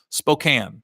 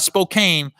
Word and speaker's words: Spokane: to say the name they said like trash can Spokane not Spokane Spokane Washington I went